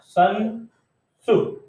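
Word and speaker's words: 孙子: तो ये एक चाइनीज मैथमेटिशियन है, क्या प्रोनाउंस करेंगे देखो, सन सु, है ना।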